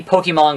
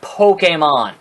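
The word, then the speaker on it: Pokémon: The Pokemon Go.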